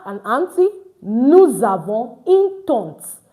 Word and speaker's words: tante: Nous avons une tante. AN is pronounced on. That's why it is tante.